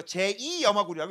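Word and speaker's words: 염화 구리(II): 그럼 이거 읽을 때 뭐라고 읽어 줄 거 같아? 염화구리투라고 읽어 줄 거 같아? 아니요. 이거 제2 염화구리라고 읽어 줘요. 뭐라고 읽어 준다? 제2 염화구리. 다시 한번 뭐라고 읽어 줘? 제2마구리. 근데 앞으로 귀찮기 때문에 염화구리 2라고 읽을 때도 있습니다. 하지만 원래 원칙적으로는 제2 염화구리야.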